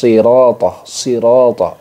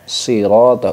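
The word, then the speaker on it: صِرَاطَ: Nah, shad itu memiliki desis mirip dengan desis angsa, ya.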